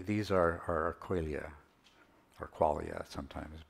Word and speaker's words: qualia: are are Aralia or qualia sometimes pronounced I prefer qualia because the the word it's closer to Quality right so I pronounce